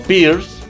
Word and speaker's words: Peirce: Sin embargo, otros autores como Peirce o Peirce, así tal como se los menciono, es como se escribe, ¿no?